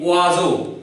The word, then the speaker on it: oiseau: And O-I-S-E-A, oiseau. Now why and how do we pronounce so?